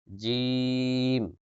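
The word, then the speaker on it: ج: এরপরে জিম, জিহ্বার মধ্যখান। এখন মধ্যখানের ভিতর তো ক্যামেরা নিয়ে দেখানো সম্ভব না, তাই না? জিহ্বার মধ্যখান তার বরাবর উপরের তালুর সঙ্গে লাগিয়ে উচ্চারিত হবে জিম, মধ্যখান থেকে।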